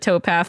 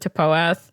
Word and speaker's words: TPOATH: paath or TP a don't know why we pronounced it toath this entire time it was just easier I don't know who calls it toath she is also an